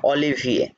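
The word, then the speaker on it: Olivier: ও এল ই এল ই ভে, ও এল ই right, এ ই ও ও এখ, এফ অলিভিয়ে, শেষে উচ্চারণটাও বলে দিবেন যে অলিভিয়ে।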